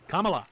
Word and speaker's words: Kamala: And like if if we were in Camala Harris's presidency, Kamala.